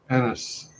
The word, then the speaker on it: Annas: Is it pronounced Anis? NS. Anis? NS. Yeah. Anis? Yep. That's brilliant.